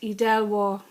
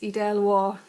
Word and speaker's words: Edel Waugh: pronouncing my name, and it is in fact Edel Waugh. I have got called many things over the years and have taken no offence to any of them. But for those of you who would like to know how to pronounce it, it is Edel Waugh.